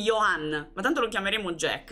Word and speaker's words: Johann: una cosa del genere la j si legge come una i Ok quindi Johan ma tanto lo chiameremo